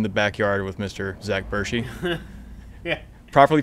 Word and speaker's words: Bertschy: living dangerously in the backyard with mr zach burshy yeah properly pronounced yes you did you got it right